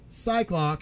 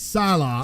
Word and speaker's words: Psylocke: It's not Cyclock, it's Psylocke. Psylocke, yeah.